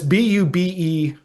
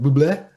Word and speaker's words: Bube: But it's Bube is how you pronounce the last name. And I was saying like Buble, like I thought it was French, but it's actually German.